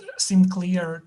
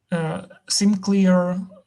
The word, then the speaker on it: SimCLR: SimClear 2. This SimClear was it's spelled SimCLR.